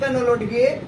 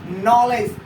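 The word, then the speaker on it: knowledge: Another example यहाँ पे लिखा है क्या, कुछ लोग पढ़ेंगे कनोलोडगे, कनोलोडगे, this is नॉट कनोलोडगे, this is only नॉलेज। यहाँ पे के साइलेंट, नो और लेज।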